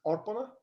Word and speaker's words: Orphana: much thank you and i mispronounced your name apparently it's orphana it means to give yeah well thanks for